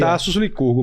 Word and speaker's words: Tassos Lycurgo: Como que se pronuncia? Isso aí, Tasos Licurgo mesmo, né?